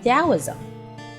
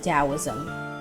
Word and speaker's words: Taoism: own interpretation now taoism even though it sounds like it's pronounced with a d it's actually spelled t-a-o-i-s-m and it was created